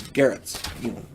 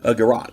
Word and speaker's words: garrote: And if you decide to, slings can also double as garrots, choking cords kind of thing. Garrote, I think it's called. I've heard it pronounced garrote, garrot, whatever. Anyway, the point I'm making is you can use it to choke them.